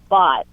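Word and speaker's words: Bawte: this week we're looking at an app called bot pronounced like b o u g HT but spelled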